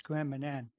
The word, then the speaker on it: Grand Manan: How do you pronounce it? It's Grand Manan.